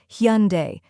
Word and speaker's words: Hyundai: with a soft U almost like saying hon followed by a simple day let's practice together say it after me hund hyund hunde slow it down then